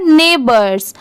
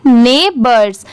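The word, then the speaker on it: neighbors: NEIGH ने, BORS बर्स, इसकी sound bourse नहीं आएगा, BORS, इसके वजह से BO की वजह से बोर नहीं पढ़ेंगे, बर्ड्स की साउंड आ रही है।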